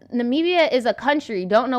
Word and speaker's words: Namibia: okay hold on hold on uh christina says namibia is a country don't know what they talk about that's what i thought i thought it was a country that i was just mispronouncing nambia for the longest like i always thought it